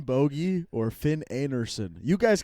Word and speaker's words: Bogi: Uh, so it's uh in standup I'm going by Finn Boie or Finn Anderson.